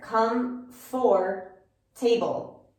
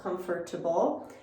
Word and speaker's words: comfortable: want to pronounce it when really when we have this uh uh which we call the schwa sound in the middle of a word that has multiple syllables we often just take it out because it's not necessary